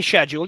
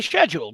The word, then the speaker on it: schedule: How do you say schedule? You say schedule because that's the British way. Americans say schedule. We say schedule.